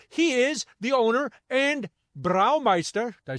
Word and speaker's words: Braumeister: He is the owner and Braumeister.